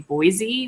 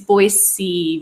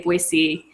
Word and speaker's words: Boise: to learn but like we all grew up saying Boise with a z but when you move